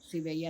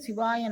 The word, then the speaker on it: சிவய: cream ஹவ அம் some சிவய நம அதுல புக்ல சிவாய நமன்னு போட்டுருக்கங்கன்னு நீங்க உச்சரிக்கிறது சிவய நமன்னு சொல்லணும் சிவாய நம அப்படிங்க கூடியது